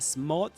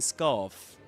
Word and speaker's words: smart: If you get a smart scarf, a smart scarf, pay attention to that. You don't pronounce the the letter R, neither in smart nor in scarf.